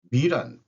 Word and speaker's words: 미란: 어 미란 밀란이라고도 발음하기도 한대요.